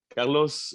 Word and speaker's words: Carlos: then you in it in french you have to think carlos carlos and with the oh with the accent on the last syllable so it does change